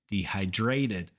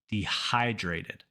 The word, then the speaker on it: dehydrated: English and Spanish together dehydrated in Spanish the second to last syllable is stressed so it's a common mistake to stress that same syllable in English and say dehydrated but saying it this way will cause you to be misunderstood so say it with me dehydrated again let's start with